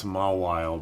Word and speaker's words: Mawile: I know it's Mawile, but I'm calling it Maywile. Feels like it should be Mawile. It's kind of, I mean, it's like Regice, right? It's all Maywile. You're just supposed to pronounce a letter twice, even though it's not how it's spelled.